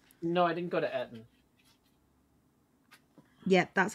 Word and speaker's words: Eton: No, I didn't go to Eton. Yeah, that's how that's pronounced.